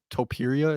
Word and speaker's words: Topuria: Topuria, is that how you pronounce it?